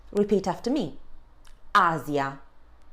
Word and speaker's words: Asia: When in between two vowels and normally in the middle of a word, then the sound is a bit more delicate as the S sound in rise. So we would say Asia.